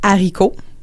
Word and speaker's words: haricot: Pour ceuxlà, on prononcera pas la lgaison. C'est rare qu'on va dire le haricot. Mais je sais, mais c'est pourtant la façon correcte de le dire.